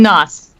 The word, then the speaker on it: Gnoss: I'm Nos. The red. Nos. Nos. Nos. Gnoss. Okay. Nos. Okay. The G is silent.